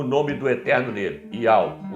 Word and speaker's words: Yahweh: In order to help the reader pronounce God's name correctly, they transliterated the Most High's name with the Greek characters Iota, Alpha, Omega, written in Greek, pronounced Yahweh.